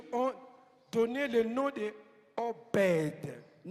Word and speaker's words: Obed: donné le nom de Obed. En hébreu, lettre B n'existe pas. On écrit obede mais on prononce. Il faut donner naissance à OV.